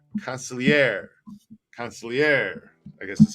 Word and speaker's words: consigliere: Back to Consigliere. The accent is on air or year. Consigliere.